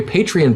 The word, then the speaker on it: Patreon: why I say that's why I pronounce a patreon is because it reminds me of the word patron yeah so I don't